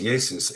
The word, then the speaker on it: Jesus: Jesus was pronounced Yesus and originally spelled Yus in the 1611 King James version.